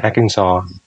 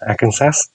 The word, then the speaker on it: Arkansas: hay là như là bang Arkansas, đọc như thế chứ không phải là đọc là Arkansas chẳng hạn gì.